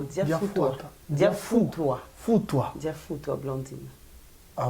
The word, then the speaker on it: Diafutua: Et voilà, elle est là avec nous, on l'appelle Diafouatoua Blandine. J'ai bien prononcé? Non, Diafoutoua.